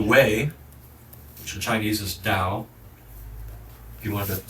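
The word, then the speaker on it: 道: That is we heard some of these last week the way which in Chinese is dao. If you wanted to spell that properly it's t ao da that's uh an older system.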